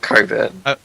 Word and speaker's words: Cockburn: No, they refer to it like as a joke, We prefer to pronounce Cockburn without the CK. So we call it Coburn.